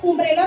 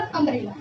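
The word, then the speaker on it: umbrella: जैसे कि यहाँ पे यू था तो मैंने उम्ब्रेला तो नहीं बोला, उम्ब्रेला नहीं बोला, मैंने क्या बोला? अम्ब्रेला। ए से प्रोनाउंस किया ना, अम्ब्रेला।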